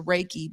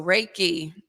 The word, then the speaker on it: Reiki: Reiki thank you so Reiki the last syllable that key that really is what most people are familiar with because we know it as Chi the chi moving through